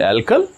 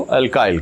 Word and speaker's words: alkyl: सही pronunciation एल्कल, हम इसको अल्काइल कह देते।